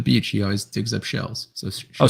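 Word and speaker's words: Kjell: he always digs up shells so oh so it's spelled s-h-e-l-l no it's spelled k j e l l duh shell never met someone named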